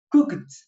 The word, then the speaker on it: cooked: No se olviden que en el verbo, cuando lo expresamos en pasado, la pronunciación cambia. Es algo mínimo, pero cambia. O sea, ¿ok? O en la pronunciación, o le aumentamos una D o una T. Casi siempre se le aumenta una T para que suene más claro, mejor dicho, ¿ok?